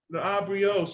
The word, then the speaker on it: La Brioche: No, I keep saying I say it right. It's La Brioche. La Brioche. I say it right until I get on here. And I'm like, why am I trying to add extra syllables?